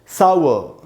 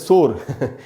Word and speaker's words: sour: यह है दोस्तों सा ऊ और आधा अ, सावर, सावर, इस प्रकार से पढ़ेंगे इसको।